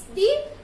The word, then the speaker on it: the: और यदि वही आर्टिकल द किसी कॉन्सोनेंट के पहले यूज किया जा रहा है तो फिर हम उसको दी नहीं उच्चारण करेंगे, हम उसका प्रोनाउंसिएशन करेंगे द।